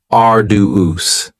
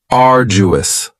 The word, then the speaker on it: arduous: next is arduous and arduous has three syllables and the stress is on the first syllable arduous now you don't hear that D sound that much it's not very Str wrong it almost sounds a little like a j arduous arduous something that